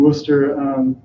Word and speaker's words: Worcester: preached to us in Worcester, I said it right, not Worcester, Worcester.